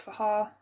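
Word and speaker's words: Fage: This is the, I think it's Faha, and that's how you say it. I'm not saying it the other way because it does not sound right at all, but it is 180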